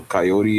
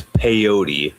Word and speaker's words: peyote: First off, you got the name wrong. It's peyote. Peyote. I was like coyote.